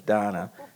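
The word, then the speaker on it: Dana: It's spelled D-A-N-A. I think her parents kind of misspelled it, but the pronunciation is Donna with Lone Star Legal Aid.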